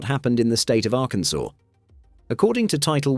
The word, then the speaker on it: Arkansas: That's exactly what happened in the state of Arkansas. According to title 1, chapter 4, section 104 of the Arkansas code, there's only one correct way to pronounce the state's name, Arkansas, with the final S silent.